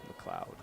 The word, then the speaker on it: McLeod: I did say her wrong. I said her name wrong before, and I will correct that. I think when I was doing the first team, McLeod.